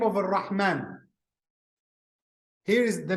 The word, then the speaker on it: Ar-Rahman: When we say Ar-Rahman, you see this syllable, man, alif and nun, it has sighat mubalagha, means what? It has form exaggeration.